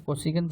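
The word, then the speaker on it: cosec: And then sign का कन्वर्स होता है, इसी के सामने मैंने लिखा है कॉजिक थीटा, या इसको कोसिकन थीटा भी कहते हैं, जिस तरह से आप प्रोनाउंस करना चाहें, कॉजिक थीटा और कोसिकन थीटा।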